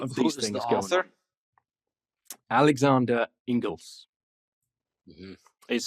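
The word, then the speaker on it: Inglis: of a lot of these things sir alexander ingles is spell ing l i s i believe but pronounced ingles and this is he's not writing this critically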